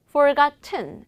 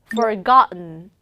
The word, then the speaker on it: forgotten: 그리고 또 잊혀진 얘는 forgotten 이게 아니라 forgotten. forgotten 이라 발음했습니다.